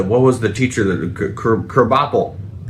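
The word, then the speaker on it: Krabappel: Uh and they had the what was the teacher that Kerbopel. Yeah. Which is spelled crab apple.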